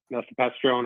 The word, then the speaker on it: mifepristone: Just a quick thing about where you're talking about the mifepristone or whatever, however it's pronounced.